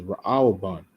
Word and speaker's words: Reuben: All right says she called his name Reuben Strong's age 7205. Now here the way you will pronounce this is Raaban.